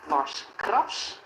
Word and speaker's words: Lars Krabs: And yes, I do emphasize it's Lars Krabs with an A and not with an E.